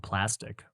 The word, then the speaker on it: Plastiq: within the last year of a website called Plastic, which is really cool. For those you don't know, I think it's spelled PLASTIQ.